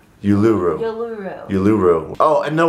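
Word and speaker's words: Uluru: we're going to like yulu I know I'm saying it wrong but you're oh I learned it y Yu yuru yuru yuru oh and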